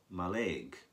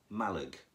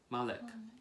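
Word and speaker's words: Mallaig: used to call it my leg but a local person told me it's Malik Malik yes the stress is on the first syllable hmm sometimes the place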